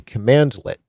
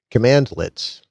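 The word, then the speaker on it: cmdlet: This is actually a command lit and that's spelled cmdle t command lit.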